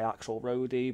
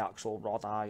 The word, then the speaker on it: Axelrodi: the world say it differently I say axle roadie bought some of us might say axelrod I or whatever so it's part of